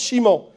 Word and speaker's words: Simon: shamoun Chimon on dit on dit Simon parce que le S dans les langues latines ça seit soit che soit S donc on l'écrit Simon et on le prononce Chimon et Chimon ça vient